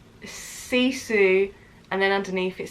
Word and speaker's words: Sisu: So this book, Sisu, the Finnish Art of Courage, is the same sort of book as Sisu is how you pronounce it.